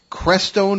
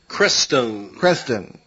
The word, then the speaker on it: Crestone: Let's get back to talking about, in Chapter 21, you deal with the Crestone Manifesto, or Creston, am I pronouncing that correctly? Crestone.